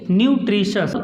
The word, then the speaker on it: nutritious: जब टी के बाद आई ओ आता है तो हम उसको उच्चारण में टी को बड़ा सा पढ़ते हैं। देखिए कैसे, इसको लिखेंगे न्यूट्रिशस, इसको बोलेंगे न्यूट्रिशस।